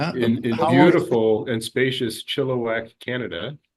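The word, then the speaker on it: Chilliwack: In in beautiful and spacious Chilowak, Canada. Is that how you pronounce it? Chilowak. Yes.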